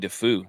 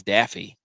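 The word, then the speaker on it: Daffue: I mean you don't you don't pronounce MJ defu he said it's Daffy like Duck Byron who's South African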